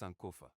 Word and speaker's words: Sankofa: Pronounced Sankofa, is a word in the Twi language of Ghana meaning to retrieve.